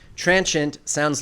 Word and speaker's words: transient: Remember, transient sounds like ancient.